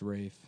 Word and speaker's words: Ralph: It's pronounced Rafe. But it's spelled like Ralph.